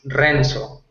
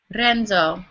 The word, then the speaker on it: Renzo: perfectly okay yeah uh I I like pronunciate my name in English but in Spanish is as strong is Renzo Renzo okay I'll do my